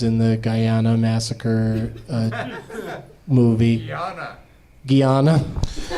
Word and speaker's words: Guyana: Guyana. It's Frazier. There's two things that piss off Brendan Fraser, and it's mispronouncing Frazier and Guyana.